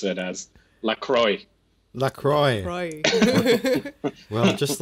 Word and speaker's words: La Croix: exploring the cult of lacroix yeah does it pronounce that right there are two ways of saying it many people who are fancy like to use the french way to go with lacroix and then there is